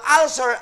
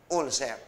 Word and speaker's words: ulcer: o kaya ulcer ang ulcer ay ang pagkagago ka dahil sa taas ng acid at ang tama ang pronunciation po niya ulcer Pero dito sa Pilipinas ang tawag niyo ulser Pakisabi nga ho ulcer